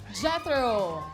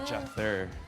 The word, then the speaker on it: Jether: Jethro. Yeah, Jether. Parang, Can you spell it? parang weather, but instead of W, J siya.